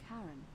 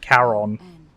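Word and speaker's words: Charon: it's just as you described it only your pronunciation is a little off the name you heard wasn't karen it was c-h-a-r caron called it the boatman yeah who in exchange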